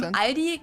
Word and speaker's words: Aldi: Or they also sometimes add an S that isn't there in the end and say Aldis.